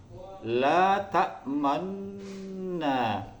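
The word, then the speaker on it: لَا تَأْمَنَّا: Jadi cara membacanya adalah memonyongkan atau mencucukan bibir itu di tengah-tengah ghunnah. La ta'manna, la ta'manna. Dan ini enggak perlu terlalu monyong. Yang jelas ada monyongnya sedikit.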